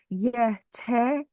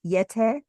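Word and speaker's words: Yeh-teh: And the word Yeti is actually derived from the Tibetan word Yete, which is spelled Y-E-H hyphen T-E-H, Yete.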